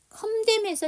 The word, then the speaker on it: condemn: condemn에서 이 N 사운드가 묵음이에요.